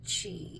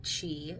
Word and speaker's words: Qi: but I'm pretty sure it's still pronounced Chi even when it's spelled with a Q not a k I just said a